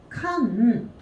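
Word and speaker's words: 鑑賞: 지금은 느낀다라고 할 때 칸소라고 읽어주고 있는데 얘는 칸쇼라고 읽어주셔야 돼요.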